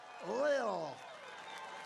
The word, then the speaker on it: Lil: Lil Pump, L-I-L, Lil. I said, how do you pronounce that? They say Lil.